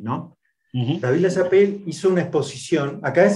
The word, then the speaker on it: LaChapelle: Uno más conocido en Uruguay, porque estuvo acá, que es David Lachapelle, que creo que se pronuncia así, ¿no? David Lachapelle hizo una exposición.